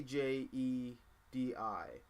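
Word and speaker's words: Djedi: but it is uh d j e d i or d e d i which i think phonetically would be pronounced jedi um yep i'm right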